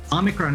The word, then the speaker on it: omicron: usually you'll see that a lot of these greek words have a stressed syllable at the beginning of the word and so omicron would